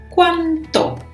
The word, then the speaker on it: cuánto: It's only one letter that is different, the T. So it's very important to pronounce them very differently.